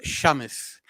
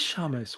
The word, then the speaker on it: Samus: is my middle name it's actually pronounced Shamus which is a Arabic word for Sunshine it is Shamus wow so and also